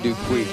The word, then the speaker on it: Dupuis: It says Hayden Dupuis, great kid and family, but that's the pronunciation. Nice. Dupuis, yeah.